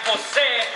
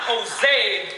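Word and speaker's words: José: name for G but always there I am Jose not Jose I am this understood but not questioned enough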